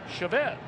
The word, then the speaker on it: Chavez: And some of you may be wondering, you've heard him called Chavez. And we asked him about it, and he said he doesn't really mind either way. He said, but his father has always pronounced the family name Chavez.